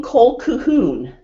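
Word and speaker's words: Colquhoun: how to spell it Colleen Cole kahoon let's say see if she has one of her dolls here she does and it spelled co l qu h oh um and she is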